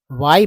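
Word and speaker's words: why: ठीक है, तो वाई, वाई, वाई जो है, इसमें भी एच साइलेंट है। ठीक है, एच को साइलेंट रखा गया है।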